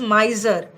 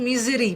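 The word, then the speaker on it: misery: इसको क्या पढ़ोगे, दिस इज माइजर और this is नॉट माइजरी, this is मिजरी। माइजरी नहीं पढ़ना, स्टूडेंट्स कंफ्यूज होते हैं।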